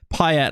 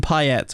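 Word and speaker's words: Payet: to stand by it in England he was Demitri pet he wasn't PA even though obviously it should be Pa all right I'm going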